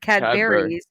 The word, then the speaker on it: Cadbury's: had berries creme egg he actually pronounces it properly we say cadbury cream egg he said cadburys because you actually add on to it which is like actually a proper english cadbury creme egg what happened